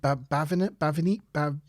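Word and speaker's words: Bhavani: Anyway, she arrives in 10 forward and is introduced firstly to, how do you pronounce it? Bavani.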